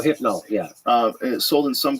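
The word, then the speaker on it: Rohypnol: it says it's illegal rol nool is uh illegal oh is it it's sold sold in some countries I'm saying it wrong it's roipnol roipnol yeah um sold in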